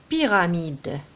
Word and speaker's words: pyramide: Donc, on voit une pyramide. Ici, on a la lettre P avec Y, se prononce pi. Donc, comme si on a I.